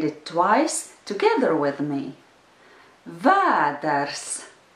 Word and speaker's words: vēders: Vēders. The rhythm is yes, no.